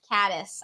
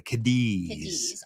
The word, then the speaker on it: Cadiz: This is the big one. Caddis. I got that one. Your GPS will get it wrong, but you'll get it right. I love how I think it is the Cadiz. Honestly, if you hadn't told me my first day was Caddis, I probably would have said Cadiz.